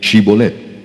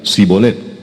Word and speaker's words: Shibolet: Si él respondía, "No, entonces le decían, "Ahora pues di Shibolet." Y él decía, "Sibolet, porque no podía pronunciarlo correctamente."